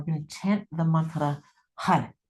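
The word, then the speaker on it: Har: And it is spelled H A R, but it's pronounced like H U D. Hud hud hud.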